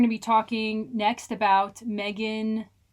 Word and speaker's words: M3GAN: You if you put those letters in, I'm going to pronounce all of them. It's Mithrian and we'll and I stand by that. I will have you know the Wikipedia specifically says it is pronounced Megan unquote.